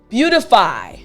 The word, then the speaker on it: beautify: a d so again beautify excellent both are okay but to sound more natural if you want to say the word fast again beautify excellent now